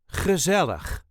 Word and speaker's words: gezellig: the very Dutch word gezellig. Gezellig. The emphasis is on the second syllable. Gezellig. Ge-ZEL-lig.